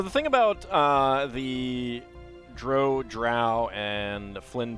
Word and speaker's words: drow: and that's why uh skip Williams when he was asked about it uh said that Dro rhymes with row because that can be